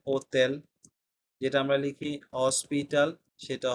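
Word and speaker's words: hotel: প্রোনাউন্সিয়েশনে যাই এরপরে আক্কা এইচ এর কোন উচ্চারণ নাই ঠিক আছে এটা আমরা মনে রাখবো যেটা আমরা লিখি হোটেল সেটা হবে ওতেল যেটা আমরা লিখি হসপিটাল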